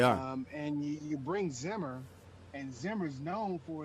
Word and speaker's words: Zimmer: make sure that i uh gave a correct pronunciation of his of his last name and it is mike zimmer and he's coming on he's coming on as